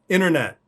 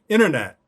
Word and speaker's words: internet: it's silent other examples internet classic example because in the middle of the word we don't pronounce the t inner and then also on the end net we don't pronounce that t either internet internet another example i